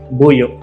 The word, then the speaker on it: Buyo: Buyo. So it's like a glottal stop. Like the O is glottal.